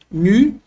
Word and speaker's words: nu: Ele é o nu, se escreve assim, nu. No português, nu, representado por nosso N, como na palavra nada.